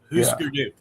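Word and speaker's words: Hüsker Dü: That U with the 2 dots over it is pronounced oo. Husker Du.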